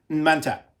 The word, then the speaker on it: Man-Tat: So it's really supposed to be Man-Tat.